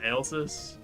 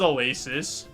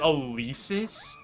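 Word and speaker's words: Alesis: pronounce that alsis. I always I always thought it was Alasis. Like that's how I wanted to pronounce it was alasis. Alis seems diabolical that there's like the e the long e sound. Like the e sound there seems diabolical. Uh, still think I'm leaning spiel right now. Every drummer I know pronounces it Alysis.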